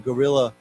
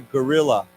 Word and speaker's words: guerrilla: Now, of course, again, these words are pronounced the same, but they're different words. Okay, so why don't we say together, guerrilla, gorilla, gorilla.